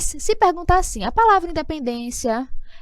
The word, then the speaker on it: independência: o endereço em pendência Independência veja é terminada em ditongo crescente como auditor crescente e quando nós temos primeiro uma semivogal depois uma vogal Independência Qual é a sílaba mais forte a penúltima então é realmente uma